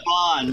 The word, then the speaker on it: Van: His name was Vaughn. Like it's spelled Van, but they pronounce it Vaughn.